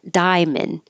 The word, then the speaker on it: diamond: And diamond. We don't say the middle A as in diamond. Drop that A, make it shorter, and now you just have diamond.